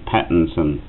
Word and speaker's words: Pattinson: Well, it's the way you pronounce it, but James Patterson. That's right, it's spelt very, as I said before we come in here, it's spelt a funny name. Pattinson, yeah. Not Patterson.